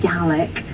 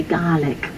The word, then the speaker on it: Gaelic: in Scotland as Gaelic so that's how I will refer to it gallic which is slightly closer to how the people who speak it say it they actually have a long a they say garlic garlic but then if I